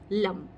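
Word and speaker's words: लं: यस, इट्स लम, LAM, या फिर ल के ऊपर एक बिंदी, लम। लम क्या होता है, इसका उच्चारण जो होगा जब आप अपने मूलाधार चक्र के ऊपर काम करेंगे तो वो कुछ ऐसा होगा, लम।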